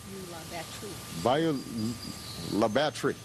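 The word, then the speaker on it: Bayou La Batre: clinic that she has built and rebuilt in Bayou La Batterie. Did I say that right? Well, tell me how to say it. Bayou La Batterie.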